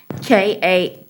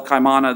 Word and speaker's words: Kaimana: the affidavit amanda jones i think it's pronounced kamana jones janet tiana club man with a k kiana yeah no i'm sorry i mean if you could just spell it k-a-i-m-a-n-a okay kaimana or kaimana jones you're to have no